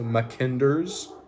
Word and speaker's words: Mackinder: mac n d e r apostrophe s so mckender's heartland theory it's also known as just the